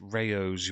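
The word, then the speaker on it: Rao's: It's pronounced rayos, you uncultured swine.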